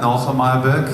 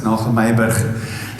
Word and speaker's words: Nagel Myburgh: It's not Nagel Myburgh, it's Nagel Myburgh.